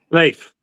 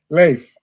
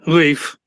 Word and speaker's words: Leif: Leif. Leif. Like the Vikings. Okay. But of course, I grew up with everyone saying Leif.